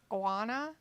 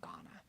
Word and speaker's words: Ghana: his own Library and Guana Ghana Ghana that's how you say it Ghana uh so he says